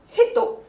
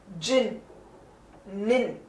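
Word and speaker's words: 人: Kunyomi for that is hito. And the onyomi for it is jin, nin.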